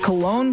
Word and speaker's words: Cologne: Is it Cologne, Germany? It's spelled like Cologne.